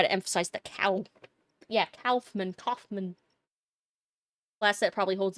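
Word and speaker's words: Kaufmann: Yeah, it's spelled like with a K. Calfman and then you have to fight God cuz Silent Hill is an interesting series.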